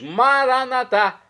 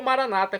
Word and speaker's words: Maranata: E agora eu clamo do aramaico dialeto de Jesus, Maranatá. como dizemos nós católicos, ou Maranata, como dizem os nossos irmãos separados, evangélicos ou protestantes.